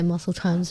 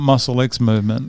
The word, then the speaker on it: Muscle x Movement: Well, I say Muscle Times Movement. Muscle Times Movement, not Muscle X Movement.